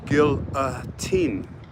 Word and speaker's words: guillotine: criticized me for saying guillotine she's like you didn't say it right it's Gil a team not Guillotine kill a teen so I